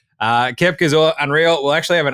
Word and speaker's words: Koepka: First things first, I believe it's pronounced Brooks Koepka. Koepka.